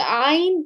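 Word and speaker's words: ع: And it's the same thing with the ayn here as well, okay? Ayn and ha, both of the sounds come from the middle of the throat, all right?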